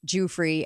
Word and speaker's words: Giuffre: And the note was Virginia Giuffre has been, that's how you pronounce it.